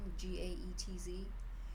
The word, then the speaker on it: Gaetz: Congressman Getz, is that how you say his name? Gaetz. He's awesome.